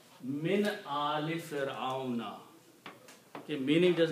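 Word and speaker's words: من آل فرعون: So you will pronounce min ali Fir'auna.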